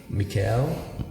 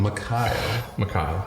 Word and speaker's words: Mikael: Mikael. Like Mick and Kyle, but just smushed together.